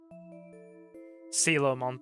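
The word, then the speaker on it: Coelamon: Silomon, thank you. I always struggle with the pronunciation of that a bit.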